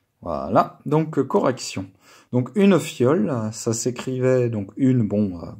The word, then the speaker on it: fiole: Faut juste bien penser à mettre le i avant le o, pour que ça fasse io. Si vous mettez le i après le o, ça fait wa, ça aurait fait foile, hein.